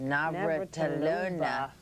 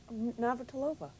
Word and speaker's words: Navratilova: magazine, up there with Martina, say that last, Navratilova. You said it wrong. Navratilova.